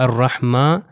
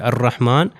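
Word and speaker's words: الرحمن: ये चीज है कि अगर मैं इसको पिछली आयत से जॉइन करूं अल्हम्दुलिल्लाह रब्बुल आलमीन अर रहमानहीम तो उस सूरत में यह वाला अलिफ जो है नहीं पढ़ा जाएगा। आप यह देख सकते हैं यह अर रहमान अगर मैं अर रहमान से स्टार्ट करूं तो अलिफ पढ़ा जाएगा अर्रहमानहीम।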